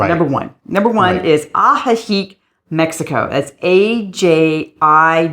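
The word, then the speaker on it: Ajijic: our favorites just number one number one is aik Mexico that's AJ i j i c not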